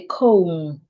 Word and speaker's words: comb: b but you have letter B after letter M most times letter B becomes silent so we say comb we say climb we